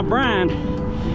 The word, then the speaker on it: Brian: anyway he said now Brian and by the way my first name in the south is one syllable Brian he said Brian you